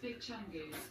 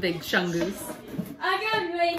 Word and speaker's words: Big Chunkies: wave say big chunkis that's pronounced big chunkies it is not pronounced big chunkus they know better than